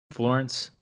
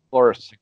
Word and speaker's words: Floris: Florence. Floris. Floris. Floris. It rhymes with Morris, but it's Floris.